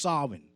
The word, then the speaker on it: Samhain: things was more powerful on the eve of Samhain, or Samhain, or some would say Samhain, but it is pronounced Samhain.